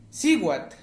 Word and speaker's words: cihuatl: Exactamente, Siwat, mujer.